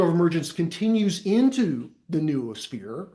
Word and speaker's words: noosphere: There's ways to pronounce that, but I call it noosphere.